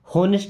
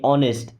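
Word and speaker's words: honest: ऑनेस्ट, देखिए यहाँ पे एच साइलेंट है, एच को नहीं पढ़ते, क्या बोलते हैं ऑनेस्ट। होनेस्ट नहीं, ऑनेस्ट, ईमानदार।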